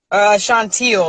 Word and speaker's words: Chauntiel: Chauntiel, like the color teal.